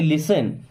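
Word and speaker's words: listen: जब दोनों मिल गए तो क्या पढ़ते लिसन यहां पर टी साइलेंट हो जाता है ना तो डोंट लिसन मस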